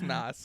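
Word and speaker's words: NOS: Everything back in this era was spelled like with the letter X. Right. Like Nas. Or Z. Is it Nas? It's Nas.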